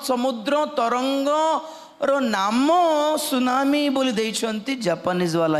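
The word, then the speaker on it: tsunami: जाए normal ordinary भूमिक सुनामी normal thing से मान सुनामी अत्यंत शक्ति युक्त ब समुद्र तरंग नाम सुनामी बोल देती जापानीज वाला ही देती टी स्टार्ट हो T silent सुनामी Japanese word था तो सेमाने जो थ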